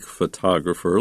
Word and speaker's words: photograph: Be careful, though, with the accent or the stress of those words. Photograph, but photographer, photography, and the adjective photographic. So you can put the accent on the first, second, or third. syllable depending on its grammatical usage.